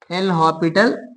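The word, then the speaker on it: L'Hôpital: हॉस्पिटल rule okay ना एल हॉस्पिटल बोलते हैं इसको क्योंकि यहां पर एस जो होता है साइलेंट होता है एल हॉपिटल रूल ओके ना ये मैंने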